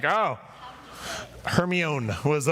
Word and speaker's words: Hermione: who are my age i had no idea how to pronounce hermione granger i was just mispronouncing it for seven years before i heard it in audio form and i was like oh hermione was uh how i